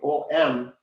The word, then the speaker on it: Om: When you write that, instead of writing O-M, the exact pronunciation, because it's the way it is constructed, is A, U, and M, three of them. Om, like that.